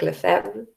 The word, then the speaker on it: Lefebvre: His surname is read something like Lefebvre, or with these weird French sounds.